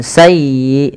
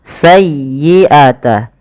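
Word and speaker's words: سيئة: Kemudian sayyiatan wa a bih palafal sayyi tekan di huruf ya-nya karena dia ya tasdid dan lembutkan ya. Sayyi bukan sayi bukan sayi bukan sayi tapi sayyiata sayyiatan wa ahat bih tidak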